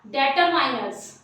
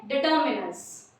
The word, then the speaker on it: determiners: डिटर्मिनर्स जिसे कभी कभी आपने किसी को बोलते सुना होगा डेटरमाइनर्स, जो कि गलत प्रोनाउंसिएशन है, आप इसको बोलेंगे डिटर्मिनर्स।